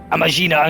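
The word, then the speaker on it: Amajina: Disruptions to ore shipments threaten not only the interests of the I've been pronouncing that wrong. It's Amagina and Sons mineral concern, but of Uldar herself.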